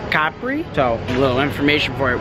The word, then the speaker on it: Capri: to Capri tomorrow and how you say it here is Capri so little information for